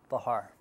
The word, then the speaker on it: Bachar: Bachar. Bachar. Bachar. The C is silent.